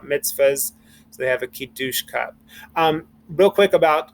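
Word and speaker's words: קידוש: use that pronunciation the proper israeli or sephardic pronunciation of kidush i said okay it's time for kidush and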